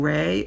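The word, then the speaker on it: Rhea: think you pronounced your last name Ray r h e a her question to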